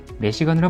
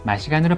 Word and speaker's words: Mashigan: 미국이나 유럽에선 매시건으로 발음하는데 이 차량을 만든 중국과 아시아에선 마시간으로 발음하고 있으니 여러분들도 마시간이라고 알고 있으면 되겠죠.